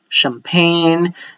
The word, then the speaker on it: champagne: Let me add for SH, you have the SH sound, even though they are CH in spelling, you have the champagne, chandelier, Chevrolet, but this one, they are